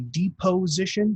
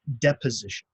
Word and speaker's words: deposition: in this last one it kind of looks like a deep position but it's pronounced deposition okay deposition when movie